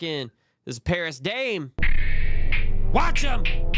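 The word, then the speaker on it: Wachum: to Paris Dame next this is called watch but it's spelled w a c h u m see what I'm saying watch him he he be having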